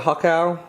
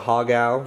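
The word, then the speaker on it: har gow: I'm sure I mispronounced it, but hakao. When I was a kid, I always called it hagao, because I don't know why.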